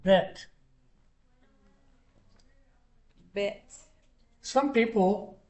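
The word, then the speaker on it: ב: but the script bet goes, now it's pronounced B, okay.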